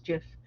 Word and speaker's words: GIF: as a as a i pronounce the gif i didn't realize it was jif sorry so it's just okay it's it's either or i hear it from both either jeff or gif that's why but when